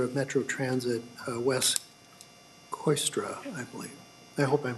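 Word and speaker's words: Kooistra: members of the committee my name is wes coystra and i'm the general manager of metro transit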